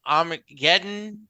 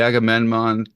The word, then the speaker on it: Agamemnon: The Armageddon, no, how do you say this Armageddon. ship? Yeah, the Oh ship that no, the he Agamemnon.